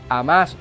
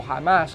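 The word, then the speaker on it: Hamás: facción que le llamamos amás o jamás Como algunos la pueden pronunciar que es una facción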